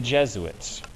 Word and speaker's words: Jesuit: get the pronunciation because looking at that word you might think it's j sweets or j suits or something like that it's not it's jesuit jesuits are uber priests